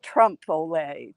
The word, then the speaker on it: trompe l'oeil: a helper for me I think of Frito-Lay but it's Trump Olay Trump AAA not Frito-Lay trampoline Laurel so you